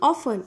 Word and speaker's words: often: See here the word is often. O-F-T-E-N. T is silent here.